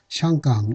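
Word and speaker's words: 香港: 그래서 광동식 발음은 헝공이라고 합니다. 그래서 영어식 발음이 이제 홍콩이 됐는데요. 물론 북경식 발음은 좀 다르죠. 샹강 이렇게 되어 있습니다. 샹강 이렇게 되어 있는데요.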